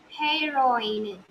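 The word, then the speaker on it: héroïne: There also H will be silent and it is not hair, not A sound.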